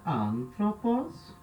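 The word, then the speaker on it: ἄνθρωπος: A gente sabe já que o acento vem aqui na terceira sílaba. A gente já foi no dicionário, já viu a palavra, a gente já sabe então que o acento é nessa sílaba.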